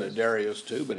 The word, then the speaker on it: Darius: Darius is actually the way you pronounce that, I found out. Right. I always called it Darius too, but it's Darius.